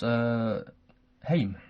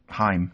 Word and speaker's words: Haim: So number 1 was Haim. Rhymes with time. Haim. Haim. Right. Time. Haim.